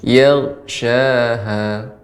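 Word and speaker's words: يغشاها: Ini kalau kita pisahkan ya, tapi ini gabung dibacanya yaghshaha. Nah, ini lebih samar lebih hilang pantulannya.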